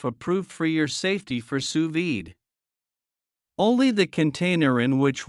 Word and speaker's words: sous vide: now you can too suid pronounced suid is a cooking technique